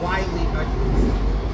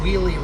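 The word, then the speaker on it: Wiehle: Now, Spring Hill to Wiley, I just mispronounced it. Spring Hill to Wheelie, Reston is the longest distance between stations in the entire WMATA system.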